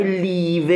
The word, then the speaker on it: leave: big, big come begonia, live come levante. Immaginatevi di dire I live with levante, però poi se volete lasciare qualcosa al vostro amico Livio, I leave it with Livio. Vedete la differenza fra live e leave? Di solito in Italia si pronuncia uguale.